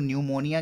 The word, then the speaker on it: pneumonia: Student आप लोग न्यूमोनिया के स्पेलिंग पे कंसंट्रेट करोगे. The word begins with the letter P and the P is silent there.